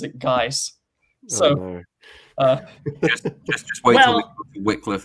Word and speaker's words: Guise: Hood, but every single person in, like, real life that I have heard pronounce that pronounces it Geese.